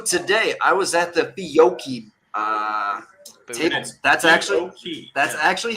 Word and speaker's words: Fiocchi: So today, I was at the Fiocchi table. That's actually how it's pronounced. I have said Fiocchi all my fucking life until today.